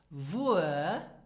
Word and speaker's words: wuer: So this means where and pronounce it wo. The second one is Wuer, where to, Wuer, or some native speakers say as well wohin.